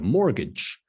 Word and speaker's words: mortgage: So the T is silent, not mortgage, but mortgage.